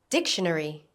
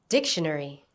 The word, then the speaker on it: dictionary: Dictionary. Dictionary. Notice the stress on the first syllable.